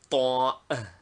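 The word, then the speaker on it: طاء: Name, Ta. Equivalent, T with two dots under it. Pronunciation, a T pronounced with the tongue full against the front part of the palate.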